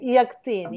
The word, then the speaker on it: Yakteen: Yakteen, is that how you pronounce it? Yakteen, yeah. A beloved edible gourd from Palestine.